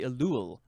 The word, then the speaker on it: Elul: The next word is elul. I guess that's how you say it. Or no, it'd be elul.